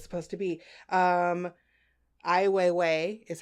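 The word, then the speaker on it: Ai Weiwei: it's thought-provoking is what it's supposed to be i Weiwei is how you say his name I know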